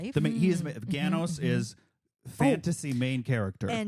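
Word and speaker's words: Ganoes: The heanos is fantasy main character and um and he his name rhymes with oh and his name rhymes with Thanos and so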